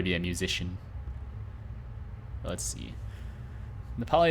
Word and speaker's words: Nepali: Nepali is how you say it in, well, Nepali for both language and nationality.